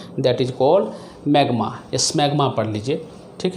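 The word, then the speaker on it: smegma: S silent है, मैग्मा बोलते हैं।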